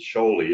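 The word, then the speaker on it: Kjøli: So one is called Lochen, the other one is called Sholey, and that's the one that's spelled KJOLI.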